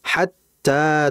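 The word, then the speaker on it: حتى: Kemudian hatta ta'tiya. Hatta. Tak di situ ada tasdid. Jangan kita memanjangkan hatta.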